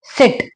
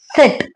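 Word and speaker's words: sit: Okay, for example आपने ये word, ये तो काफी सिंपल है, सिट। सिट मतलब बैठना, इसका सही प्रोनाउंसिएशन है सिट, नॉट सीट।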